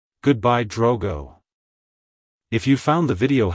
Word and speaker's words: Drogo: Century it's pronounced as Drogo Drogo Drogo to pronounce it correctly emphasize the o sound and keep the G soft avoid pronouncing the O as o and the g as G like hello Drogo goodbye Drogo if you